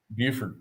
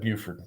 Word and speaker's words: Beaufort: He was a they pronounce it Beaufort's in yeah, South Carolina, Buford. Yep, Buford.